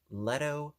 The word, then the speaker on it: Letto: approached by an etsy seller now forgive my pronunciation if you please the name of the etsy store is leto workshop l-e-t-t-o workshop and they are based in